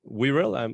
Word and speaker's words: Wirral: Because I'm seeing that you were born in Wirral.